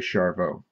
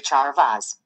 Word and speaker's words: Charveaux: has a problem with the z is silent it's actually french but uh siri well you listen for yourself send a message to charveaux okay what do you